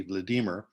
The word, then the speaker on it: Vladimir: of the slavic nations converted to orthodoxy prince vladimir the russian pronounced yes pronunciation would be vladimir ruled the vast kingdom of kievan ruse although